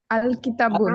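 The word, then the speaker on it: الكتاب: তাহলে লামের উচ্চারণ হবে কি হবে না? উচ্চারণ হবে। হবে উচ্চারণ হবে। হবে। তাহলে জি, আলিফ জি। লাম, কিতাবুন একটি বই, আলিফ লাম লাগিয়ে বলি আল কিতাবুন।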